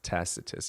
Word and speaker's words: Tacitus: Tac tacitus. Yeah. Tacitus. That's how you pronounce it.